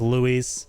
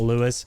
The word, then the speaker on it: Luis: up the pronunciation Lou Louise says Luis not Lewis yeah I feel like